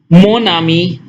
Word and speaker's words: mon ami: Mon ami, pronounced together because consonant and vowel, then mon ami, say.